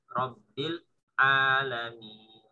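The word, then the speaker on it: رب العالمين: Tinggal nanti di Rabbil Alam itu tidak terputus ya. Rabbil Alamin. Ya, kalau mengatur kepada sifat bahwa huruf lam dia memiliki sifat pertengahan antara tertahan dan berjalan.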